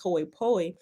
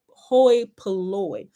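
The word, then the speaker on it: hoi polloi: it hoy poi but it's not pronounced hoi poe it's pronounced hoi hoy poloy meaning like the lower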